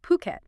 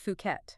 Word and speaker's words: Phuket: And you start thinking maybe about owning a place there, somewhere like Puket. And just so we're clear, it's pronounced Phuket, not Fuket or Kosamui.